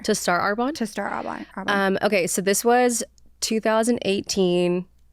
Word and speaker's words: Arbonne: Arbonne. Yes. You're killing it, right? Doing Arbonne. Why did you make that leap to do, and like, what was the backstory there? To start Arbonne? To start Arbonne.